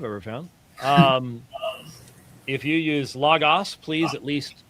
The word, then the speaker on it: Logos: If you use Logos, please at least call it by the proper name, Logos, not Logos or Logos. Neither would be a possible pronunciation.